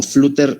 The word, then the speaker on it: flúter: como ya les mencioné, también se le puede llamar aleteo o flúter así en español, o sea, sin la doble T y acento en la U.